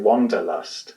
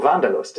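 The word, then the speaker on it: Wanderlust: English and that's uh people in English might pronounce it wonderlust but wonderust. Vanderust the need to sort of get out there is is is what vandalust is right.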